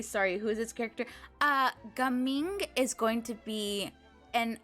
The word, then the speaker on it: Gaming: I think his name is technically going to be, like, pronounced Gaming. So I'm saying Gaming. I don't think his name is going to be gaming, like, at all.